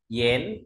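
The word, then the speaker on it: 讠: gập sổ móc lên đọc là yén âm N không phải dán nhá An đọc thành n này dnn D chúng ta có thể ghi vào ia đọc thành n yén đứng một mình nó đọc là An y An Yan nhen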